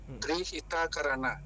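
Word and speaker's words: Tri Hita Karana: biasa yaitu implementasi ajaran Tri hit Karan trihita Karana Karan jadi bacanya trihita Karan Oke trihita Karana itu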